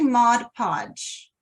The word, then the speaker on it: Mod Podge: things now fun facts Mod Podge is does not rhyme with hodgepodge and it took me a long time to not say Mod Podge but um but it's actually Mod Podge and I think the